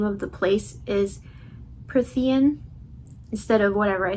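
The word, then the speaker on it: Prythian: out that the name of the place is Pthean instead of whatever I said before.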